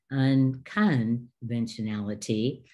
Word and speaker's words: unconventionality: ANITA ARCHER: Affixes, so instead of unconventionality, they would say un-con-ven-tion-l-ty, so they mispronounce this as in most commonly is not 'con' but 'can' and this is definitely not ti-on it is tion, and so the students